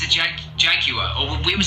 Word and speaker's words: Jaguar: Yes, it's a jaguar. Or we would say jaguar. You would say what? Jaguar. Jaguar. Like it's as if it's spelled Jaguar? like jaguar. We say jaguar. Jaguar, like 3 very defined syllables.